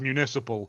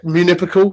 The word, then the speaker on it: municipal: Also, Aaron's pronunciation of the word municipal. Municipal. Yeah. How'd you say it then? Municipal. Municipal. What did I say? You went moon eye. I can't. Munipical or something like that.